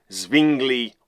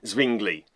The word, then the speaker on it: Zwingli: Team Luther on the one hand and Team Zwingli on the other.